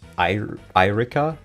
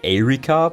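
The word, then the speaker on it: Eirika: I'm glad you also pronounce Irika as Irika. Yeah, well, in English I guess you would say Erika, but that just sounds wrong. It sounds like Irika is not really a name in German.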